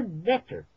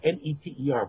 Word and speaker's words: Neter: So we pronounce it now N-E-T-E-R, but it's actually just written NTR, Neter.